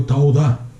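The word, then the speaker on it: תודה: Se pronuncia toda, en hebreo tauda.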